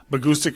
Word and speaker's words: Bahgoostyx: off an acoustic band agoustic rhymes with acoustics and we stuck with